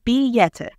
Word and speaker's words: billete: 2, the word is billete with E, which is pronounced somewhat like a Y in Spanish. So it would sound like billete.